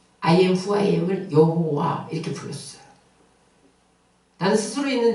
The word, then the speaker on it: 여호와: 근데 이것을 이스라엘 사람들은 I am who I am을 여호와 이렇게 불렀어요. 나는 스스로 있는 자야. 그것을 이스라엘 사람들은 여호와. 이거를 다르게 발음하면 야훼. 똑같은 발음이에요.